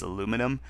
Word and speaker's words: aluminum: I think Americans tend to leave out the second I, and that's why the American pronunciation is aluminum.